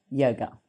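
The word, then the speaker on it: योग: So how do you pronounce the word yoga? Yoga comes from the ancient language Sanskrit, the ancient language of Sanskrit, and it is pronounced yog.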